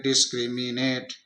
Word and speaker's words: discriminate: हम इसको देखें, DIS ये डिश हो गया, CRI एक क्री हो गया, ये मी हो गया, ये नेट हो गया। छोटे छोटे टुकड़ों में हम आसानी से उसका उच्चारण कर सकते हैं। इस तरीके से इसको तोड़ करके, टुकड़े करके हम इसको पढ़ सकते हैं। डिस्क्रिमिनेट, डिस्क्रिमिनेट, इसका ये उच्चारण हो गया इस शब्द का, डिस्क्रिमिनेट।